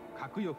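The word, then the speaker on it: 鶴翼: 鶴の翼と書いて閣翼と読む。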